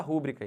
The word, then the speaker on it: rubrica: aqui rubrica botar sua rubrica aí não não pode isso não é proparox isso é paroxítona é rubrica sempre tá bom olhem para